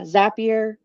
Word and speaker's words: Zapier: company name but yeah zapier makes you happier best way to remember it awesome there you go